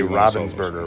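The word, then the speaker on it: Ravensburger: man I've sold some Ravens Burger over or rather you do want to look for the if you say Robin's burger right yeah that's how you say it I've sold some and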